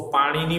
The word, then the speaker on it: पाणिनि: ये भी बहुत बढ़िया एग्जाम्पल है कि ग्रेट ग्रामेरियन पाणिनि, उसको पाणिनि बोलना है, स्पेलिंग देख के आप पनीनी मत बोलिएगा वरना पिज्जा याद आ जाएगा, ठीक है।